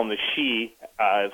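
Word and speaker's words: Sidhe: they call him the she uh spelled s DHE pronounced s he the she would come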